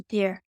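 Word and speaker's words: DIER: level the die er do you pronounce that deer or is it just d-i-e-r I pronounce it as a deer okay that's good to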